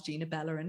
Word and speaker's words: Gina Balarin: Well, if you think about it, the easy way to remember how to pronounce Gina Balarin is Gina Ballerina.